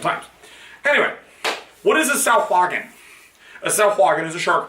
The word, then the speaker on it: Sahuagin: That is actually how you pronounce it, honestly. It is Sahuagin. I know it's not spelled that way. I don't know why it's pronounced that way, but it's pronounced Sahuagin.